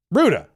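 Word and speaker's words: Rutte: Ruda. Oh, that was not nearly as that was not nearly as difficult in my series. Mark Ruda.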